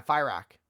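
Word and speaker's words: Fyrakk: Yeah, Fire Rack. Isn't that his name? Fire Rack, dude. Where do you people get this shit from? Well, They literally pronounce his name in the cinematics for Rock.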